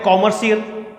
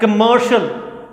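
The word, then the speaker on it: commercial: न कम शुभ अवसर बोलते हैं कमर्शियल गलत है दोस्तों इस कंडीशन उच्चारण बहुत गलत है सही परमिशंस है कमर्शल बेल्ट में कमर्शियल कम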